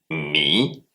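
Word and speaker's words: 米: et le ri se dit mi. M I trè ton et s'écrit de la manière suivante.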